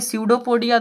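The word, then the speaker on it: pseudopodia: आपको याद करने का पीएसईउदोपोडिया वैसे तो पी होता है लेकिन उच्चारण ऐसे ही किया जाता है तो एस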